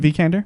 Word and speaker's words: Vikander: How do you pronounce her last name? Is it Vikander?